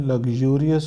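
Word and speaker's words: luxurious: वाला वर्ड आएगा लग्जूरियस, इसका प्रोनाउंसिएशन लग्जूरियस होता है, द हाउस वाज लग्जूरियस। एक वर्ड ये होता है LUXURY, इसका प्रोनाउंसिएशन होता है लक्शरी, लक्शरी, लेकिन इसका प्रोनाउंसिएशन होता है लग्जूरियस।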